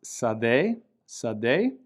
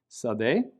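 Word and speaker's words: שָׂדֶה: So the word on the left is pronounced sadeh, sin, dalet, hey, with a hey being silent, sadeh, field.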